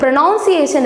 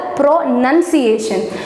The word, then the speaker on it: pronunciation: ஸோ இது ப்ரொனவுன்சியேஷன் இல்லை, ப்ரொனன்சியேஷன்.